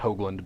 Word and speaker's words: Hoogland: the joke doesn't work since your name's actually pronounced hogland but I'm still I'm sticking to that joke